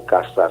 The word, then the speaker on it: caçar: caçar, que é pronunciado caçar sem um R, Sim.